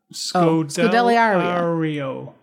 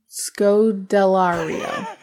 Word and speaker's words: Scodelario: it Oh Goodell Lyari who scored le re so Del Rio no Scodelario I apologize kiya aur kya do you think it's probably kya kya Scodelario Kaya Scodelario I think I'm right I don't